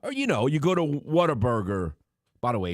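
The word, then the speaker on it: Whataburger: Like you got to have the emphasis or it's not authentic. Well, I it's called what a burger. Well, I guess the correct pronunciation because if you say it your way, you know what ends up it being called? Water water burger like you're eating in some swimming pool or something.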